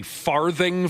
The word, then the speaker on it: Farthing: Oh, you pronounced the th h so prominently. I didn't even get the farting part there.